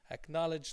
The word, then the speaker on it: acknowledge: So that's what I often say to my students, acknowledge like college.